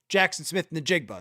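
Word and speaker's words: Jaxon Smith-Njigba: a hor a historic year and it is pronounced for the jackass on the NFL awards Jackson Smith Nigba.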